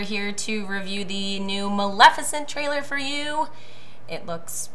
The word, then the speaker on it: Maleficent: And we're here to review the new Maleficent trailer for you. It looks pretty sweet, so... So we got the pronunciation down? Yeah, Maleficent.